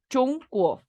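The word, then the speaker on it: 中国: Porque esto se dice Chunguo, se escribe Z-H-O-Z, Z-H-O-N-G, G-U-O. Chongguo.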